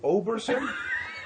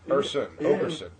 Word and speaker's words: Oakerson: And then they come back and they go, Oberson? I'm like, no, Oaker, like oak tree. Think of oak tree, Oakerson.